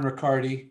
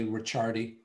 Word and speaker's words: Riccardi: Lauren Riccardi, if I'm pronouncing that, I don't want to say Ricciardi. It's Riccardi, I imagine, says that she loved the video of the Fiamma Brothers.